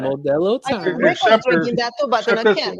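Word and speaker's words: Modelo: This is Mello. You gota say it right. Modello that I can.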